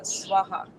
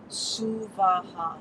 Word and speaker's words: Suvaha: it as Om Bhurabhuva Swaha or Swaha. And honestly, that's an insult to the energy of Gayatri. She is Om Bhurabhuva Suvaha. It's gotten distorted over generations. Suvaha, 3 equal, distinct syllables.